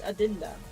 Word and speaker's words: Adenda: Well, it's it's literally you spell it how you how you say it. It's Adenda. I'm not a typical English.